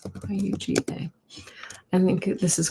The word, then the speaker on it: Yuga: And that's what I think those yuga cycles were.